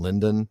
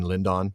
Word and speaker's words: Lindon: This is sort of like the West Wing in Lynon. Uh, sorry, in Lindon. I need to pronounce it correctly.